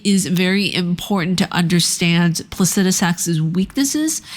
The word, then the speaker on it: Placidusax: and then it was Placidusax, and then it was Wow. I thought the X was silent. I thought the X was silent. I did not realize that in this case, you pronounce the X.